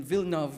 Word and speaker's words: Villeneuve: Judy Villeneuve Dice, and I'm pronouncing Villeneuve because a lot of people stretch it.